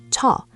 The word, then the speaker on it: 저: The word is 저, spelled 저 and ra, pronounced 저.